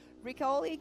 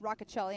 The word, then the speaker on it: Roccacelli: Yes, and then now we have Caden Hunt and Mitchell Riccoli going off the line, but we did see him not take it. Mitchell did not. Roccacelli, I'm sorry, pronounced the name wrong.